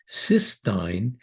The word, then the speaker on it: cystine: amino acid cysteine again please note the difference in spelling and pronunciation compared to cysteine cysteine is two cysteine